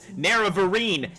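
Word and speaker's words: Nerevarine: you to be my greatest martyr nero vereen neravarine now i know how to pronounce it i will tell the tale myself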